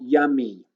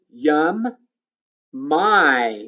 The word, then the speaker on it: yummy: Remember, a two-syllable word or longer word that ends in a Y, then the Y says E. So it says E right here.